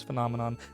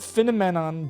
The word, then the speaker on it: finamenon: That is how you say it, is Phenomenon. Not Phenomenon. Don't be me last year.